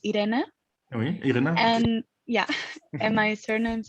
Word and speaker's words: Irene: please well actually uh the pronunciation of my first name is idena and yeah and my